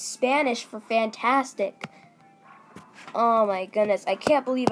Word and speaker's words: Fantastico: Is it Fantisco? No. Is it like San Francisco? No. Fantastico. Is Spanish for fantastic.